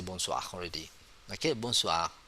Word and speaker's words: bonsoir: Okay, bonsoir. Bonsoir, same like bonjour just now. There's no N. We not pronounce clearly the N, but we have it like nasal sound.